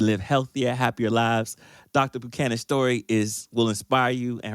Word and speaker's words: Buchanan: So, how do I pronounce it properly? It's Buchanan.